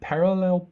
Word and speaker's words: parallel: He struggled to parallel park. The easiest thing, guys, with the word parallel, open your mouth to pronounce it correctly.